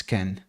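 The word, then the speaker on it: Kean: you say his name it's not keen it's Ken um I would hope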